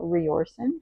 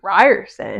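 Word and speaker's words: Riorson: I was saying Rioren. How do you say that? Oh, I say Ryerson. Ryerson. I'm just going to call him Zaden because I was saying Rorson, but maybe it's Ryerson.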